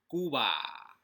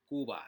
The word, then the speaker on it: Cuba: about the scams in goo ba or you may pronounce it Cuba kuba that's how I like to pronounce it alright so there are